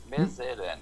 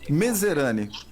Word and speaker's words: Mezerani: Nadir, eu não gostaria de errar a pronúncia do teu nome. É Medzerani mesmo? É, Medzerani. Medzerani, como se lê mesmo, né?